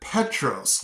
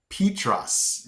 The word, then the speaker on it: Petros: one of the cities, I pronounced it Petros, like the place where you get the chili and chips. It was Petros. It was spelled the same as the fast food place. I'm like, Petros, Petros. And then somebody had to tell me, no, Mitch, it's Petros. And I'm like, whoa, that